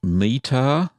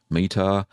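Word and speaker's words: Meitar: The first one is from, I hope I don't get the name wrong, Meetar, spelled M-E-I-T-A-R, Meetar.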